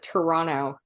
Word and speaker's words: Toronto: I think when you say Torontonian, it's the only time that someone from here will pronounce the second T. Otherwise, if you want to seem like you're a local and blend in with everyone, just call it Toronto. Like it's just spelled with a bunch of N's.